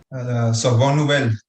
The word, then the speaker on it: Sorbonne Nouvelle: ¿Cómo se pronuncia en francés? Sorbonne, no sé qué vaina. Sorbonne Nouvelle. Exacto, Sorbonne Vainel.